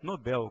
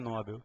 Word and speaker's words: Nobel: em L recebem acento Então se ela não tem acento a pronúncia certa é Nobel correto Tá então não se esqueça prêmio Nobel e não Prêmio nóbel tá bem aqui a